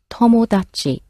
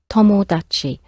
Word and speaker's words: tomodachi: The word for friend in Japanese is tomodachi, tomodachi. Maybe you've got a friend called Tom, who made an odd achievement, tomodachi.